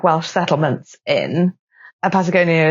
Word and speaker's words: Patagonia: Patagonia is pronounced Patagonia in Welsh.